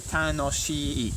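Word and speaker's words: 楽しい: So this is actually tanoshii, tanoshii, tanoshii, tanoshii. It's kind of like a long I sound on the end.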